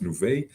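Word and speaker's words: Nuvei: uh acquired as you mentioned by nouveau it's pronounced nouveau uh yeah canadian company also listed in nasdaq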